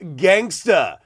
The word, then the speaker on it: Young Gangsta: Young Gangsta. in case you didn't know that. And yes, I am pronouncing that phonetically correctly. That's the way he wants it. Ends with an A.